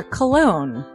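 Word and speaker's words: Colon: It is a self-published book by Christopher Cologne. Chris Cologne smells good to me. But Look at her. That broke that fucking cold little exterior. He's like, hee. But it is spelled C-O-L-O-N.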